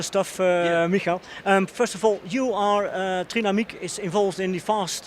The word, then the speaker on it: Trinamic: Trinamic, Michael Randt. What's the pronunciation, Michael? Please help us out. Oh, the German one is Trinamic, of course, yeah.